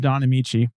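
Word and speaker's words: Don Ameche: Technicolor film starring an actor whose name is pronounced Don Amici, Heaven Can Wait?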